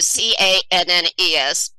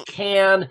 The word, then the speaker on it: Cannes: How do you say the C-A-N-N-E-S?